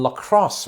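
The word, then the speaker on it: La Crosse: early 60s apparently in Lacrosse Wisconsin is it pronounced lacrosse like the sport probably lros and this makes particular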